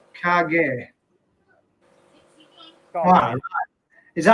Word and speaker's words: kage: Black Country Koi says cage is pronounced Kage.